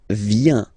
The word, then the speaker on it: viens: So, the first form is je viens. Je viens, okay? Remember this I, viens, viens, and then this nasal, final S not pronounced.